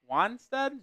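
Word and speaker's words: Wannstedt: Wanstead?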